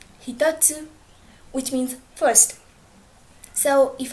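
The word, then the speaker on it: 一つ: try practicing it okay so you can also add the counter to to this kunyami which is hito so it becomes hitotsu hitotsu which means first so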